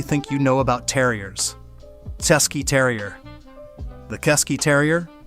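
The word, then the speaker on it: Cesky: Chesky Terrier. The Chesky Terrier, pronounced Chesky, is the terrier that forgot to be a terrier.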